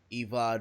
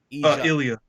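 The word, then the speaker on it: Ilja: two matches and watch the azar versus uh eva Draganov oppositing name wrong Ilya Ilya Draganov Matt that was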